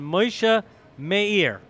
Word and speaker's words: Moshe Mayer: My guest now is none other than Moshe Meir.